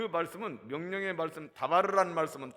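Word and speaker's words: דבר: 다바르. 마스크 끼워가지고 발음이 제대로 안 되는 것 같아요. 다바르. 다 발랐다 해가지고 다바르라는 말씀이에요. 그런데 이것은 명령의 말씀입니다.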